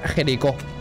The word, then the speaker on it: Jericho: Se pronuncia Jericho. Lo dijiste bien, ya lo sé.